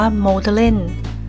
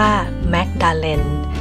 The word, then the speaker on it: Magdalen: สงสัย ใช่ ไหม คะ ทำไม พี่ แพม อ่าน ว่า โม ทะ เล่น ไม่ อ่าน ออก เสียง ว่า แม็กดาเลน ตรง ตาม ตัว สะกด จะ บอก ว่า พี่ แพม ก็ ถาม ศิษย์ เก่า เขา เหมือน กัน ค่ะ เขา บอก ว่า อ่าน หมด อะ เล่น น่ะ ถูก แล้ว ไม่ ใช่ แม็กซ์